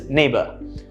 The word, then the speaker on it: neighbor: color humor and neighbor notice how you do not pronounce the oh you do not saying bor no that's not how you pronounce it it's neighbor right and the reason these